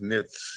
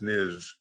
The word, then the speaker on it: Leibniz: We have difficulties when we try to see through one point, although, Leibniz, it's actually not pronounced Nitz, it's Niz.